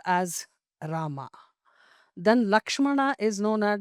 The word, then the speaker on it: Lakshmana: It is known as Lachumana. And Mruga, this Vatakshara, that too particularly from Sanskrit Aksharas, Muruga. Because tongue twisters, they are all. Lakshmana, to pronounce, it's difficult. Lachumana is easy for tribal people.